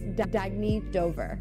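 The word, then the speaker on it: Dagne Dover: good you can live life intentionally oh it's pronounced Dagny Dover Dagny means new dawn it's a new dawn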